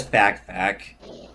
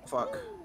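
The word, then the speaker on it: Fak: You probably read it as fact. But it's pronounced fuck.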